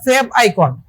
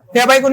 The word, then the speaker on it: favicon: তো এই যে লোগোটা, এই লোগোটাকে আমরা বলতে পারবো হচ্ছে আমরা ফেভ আইকন। ফেভ আইকন বলতে পারবো। এর বানানটা কি?